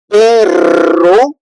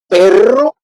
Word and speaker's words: perro: to put two vowel in order to make that pronunciation and also to have the meaning. So for example, perro mean a dog, but pero mean a bat.